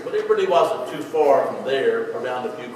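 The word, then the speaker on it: pho: we're going to have looks like f pronounced fa for breakfast I thought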